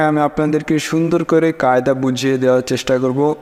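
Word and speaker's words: باء: পরেরটা বা দুই ঠোটের মাঝখান থেকে উচ্চারণ হবে বা অর্থাৎ দুই ঠোট একত্রে করে তারপরে বা তারপরেরটা দেখেন তা।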